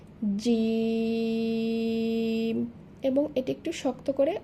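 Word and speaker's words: جيم: জিম। তাহলে প্রথমে এই হরফের নাম জানলাম, এবার জানবো এই হরফের মাখরাজ অর্থাৎ উচ্চারণের স্থান। জিহবার মধ্যখান হইতে তার বরাবর উপরে তালুর সাথে লাগাইয়া জিম উচ্চারিত হবে। জিম।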